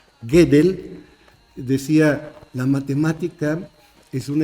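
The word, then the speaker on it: Gödel: Einstein estoy hablando de kur gedel se escribe godel con diéresis en la o gedel decía la matemática es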